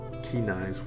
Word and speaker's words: Kynes: is Topher, Christopher Kynes, what Kenais, if you want to pronounce his name correctly, but Topher was pretty